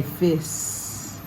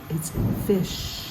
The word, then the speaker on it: fish: knows how to say please don't say Fists fish good Capernaum and verse 20